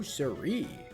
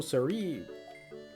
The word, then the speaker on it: siree: No siree. What does it even mean? I always read it as no sire, but then I heard it be said, be pronounced as no siree more often.